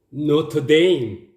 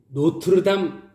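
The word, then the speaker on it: Notre-Dame: 그 다음 단으로 보시겠습니까 왜 뭐 내가 님 노트 데이 왜 뭐 내가 착한 왜 한국인들이 2탄을 노트르담 이라고 합니다 으 마찬가지 거야 내가 착용 노트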